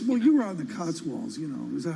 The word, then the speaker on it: Cotswolds: I was, well, you were on the Cotswolds, is that how you pronounce it? The Cotswolds, yeah.